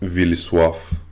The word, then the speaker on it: Vilisław: My name is also very hard to pronounce. It's Vilisław. Vilisław, and even Bulgarians cannot pronounce it correctly when they read it, so I know the feel.